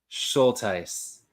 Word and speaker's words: Schultheiss: a sh of fish and then tice rhymes with dice I I used to